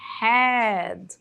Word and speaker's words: had: a conjugação dele é had, had, had. Então, esse H tem um som de R, né? Had, had. OK.